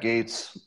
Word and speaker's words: Gaetz: so you probably know Matt gates and it's spelled GA etz Matt gates so you see him often